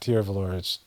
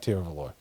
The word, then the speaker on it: Tiruvallur: This, and I'm not pronouncing, it's not Tiruvallur, it's like Tiruvallur, with a TH.